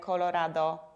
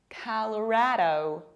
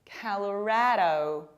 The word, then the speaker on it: Colorado: And this state, it's not pronounced like Colorado, Colorado, Colorado. No, it's color, like a color. Colorado, Colorado.